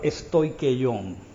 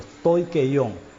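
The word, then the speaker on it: στοιχεῖον: griego para rudimentos es la palabra stoikeion, así como suena, así se pronuncia rudimentos en el griego, stoikeion.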